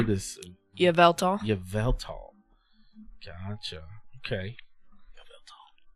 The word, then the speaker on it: Yveltal: Yveltal.